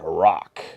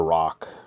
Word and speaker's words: roc: And Rarity and Zecora end up in the crossfire between Spike and a rock. Bit of a small rock. For those not familiar with rocks, it's spelled R-O-C.